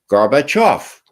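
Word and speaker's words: Gorbachev: now off off now accent the off and say them together betof got it Mr President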